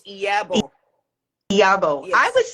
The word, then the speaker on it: Iyabo: The I is pronounced as E. E. So it's Iyabo.